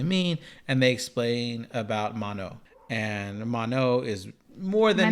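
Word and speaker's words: Manon: Oh, I thought that the last N was silent. It is man. Mano. That's what I said.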